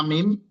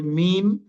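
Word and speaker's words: ميم: হ্যাঁ, তো এখানে ঠোঁটের সাথে সম্পৃক্ত ঠোঁট অর্থাৎ মানে সাফাবি, অর্থাৎ আমাদের যে ঠোঁট থেকে যে দুটো অক্ষর উচ্চারণ হয় সেই দুটো হচ্ছে মিম, আপনার হচ্ছে বা, ফা, এগুলো।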